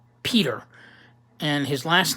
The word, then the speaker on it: Pieter: ] Pei Pei ter but you pronounce it Peter and his last name